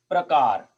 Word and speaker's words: प्रकार: जैसे ये है देखो प्रकार। अब प्रकार में आप प्र को आप प्रोनाउंस करें, आप कॉमन सेंस लगा के बताएं कि ये प्रकार में र आधा है कि प आधा है?